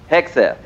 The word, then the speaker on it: Hegseth: Hegseth.